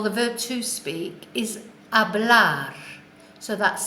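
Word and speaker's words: hablar: first of all the verb to speak is a black so that's spelt H a BL a R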